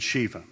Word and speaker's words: Shiva: of brahma vishnu and shiva or sometimes you'll hear shiv or sometimes shiva or sometimes shiva there's different pronunciations so anyway those are